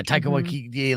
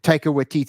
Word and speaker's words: Taika Waititi: Yeah, Taika Waititi, like it's that style of New Zealand comedy.